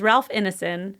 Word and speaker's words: Ralph Ineson: Because there's Ralph Ineson, that's how you say his name, who was in Game of Thrones and Chernobyl and Another Year.